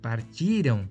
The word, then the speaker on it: partiram: Partirão, futuro, partiram, pretérito. Tem uma mudança aí de sílaba tônica, né?